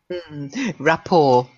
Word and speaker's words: rapport: and perhaps Brahman feelings rapport is a silent T comes from the French I believe okay so